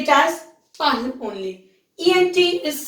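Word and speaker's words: parlent: ENT, it's not pronounced. ENT is always silent. Okay, we say it as parle only.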